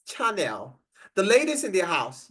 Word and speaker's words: Chanel: do you have Chanel it's called channel right or I don't get the pronunciation correctly H channel is it it's Chanel the ladies in the